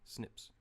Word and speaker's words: SNP: in the single nucleotide polymorphisms so the N snips rather snps which are pronounced tips and this is important as these